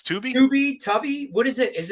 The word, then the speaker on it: Tubi: I call it Tubby. It's Tubi. Tubby. What is it? Is it pronounced Tubby? It's not Tubby Tubi.